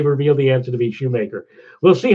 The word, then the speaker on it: Shoemaker: you're watching right now it's not Schumacher that's how you pronounced it it's shoemaker and I want to